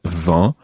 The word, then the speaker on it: vent: that is now as we know french spelling can be quite complicated because there's lots of silent letters in french and if you've got the word va then it's quite difficult to identify how you would write that in actual fact it's spelled v-e-n-t and v e n